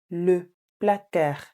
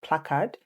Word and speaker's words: placard: Le placard. Please note that the D is silent. It's not placard. It's le placard.